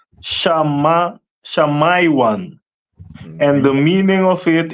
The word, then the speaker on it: Simeon: And Simeon is pronounced in the Hebrew as Shamaiwan.